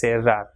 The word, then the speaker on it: cerrar: Same way, CERRAR will be pronounced as cerrar, and with I it will also be pronounced with the same sound.